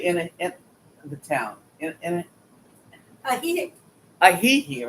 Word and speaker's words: Ajijic: So the J's are pronounced as an H. So you go Ahihik.